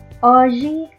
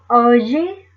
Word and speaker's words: hoje: Hoje é domingo. Hoje é domingo. The letter H is silent.